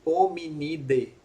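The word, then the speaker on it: Hominidae: nesse nó, que indica hominide. Então, AE em latim se pronuncia E, hominide.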